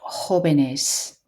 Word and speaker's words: jóvenes: And then here, jóvenes, a H sound, jóvenes.